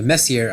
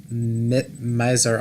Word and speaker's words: Messier: what is called a Messier object, or a Messier object, if you want to pronounce it that way.